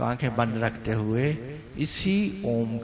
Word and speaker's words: ओम: तो आंखें बंद रखते हुए इसी ओम का उच्चारण करना है, मुंह खोल के और श्वास गहरा भर करके। श्वास गहरा भरा, ओम का उच्चारण किया। ओ छोटा 1/3, 1/3, म 2/3 लंबा।